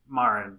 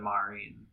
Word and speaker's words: Marin: Like Japanese, it's Marin, but I think English said Marin.